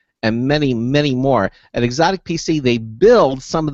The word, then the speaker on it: Xotic: company called exotic PC it's spelled xotic exotic PC and has become one